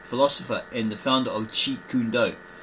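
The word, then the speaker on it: Jeet Kune Do: and the founder of cheat kundo. Notice there we didn't say j kadu or j canad or that sort of rubbish as people say they can't pronounce properly.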